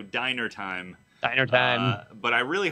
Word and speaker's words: Dyner: So the winner is, I want to say dinner time, but it's spelled DYNER time. So diner time.